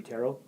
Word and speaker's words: tarot: I think because it's a French word, it should be tarot. Okay. And I kept saying tarot because that's how it's spelled. Yes, it is. Yeah, there's a T at the end.